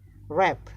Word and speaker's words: wrap: Wrap, W is silent.